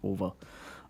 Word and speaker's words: OVA: I pronounce it as like a word. OVA is over.